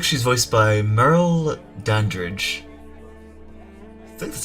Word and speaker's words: Merle Dandridge: Looks like she's voiced by Merle Dandridge. I think that's how it's pronounced. Let's see. Yeah, Merle. M-E-R-L-E Dandridge.